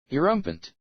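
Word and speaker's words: Erumpent: A rumpant, or do you actually pronounce it? I'm about to go look this up. This is killing me. Erumpant.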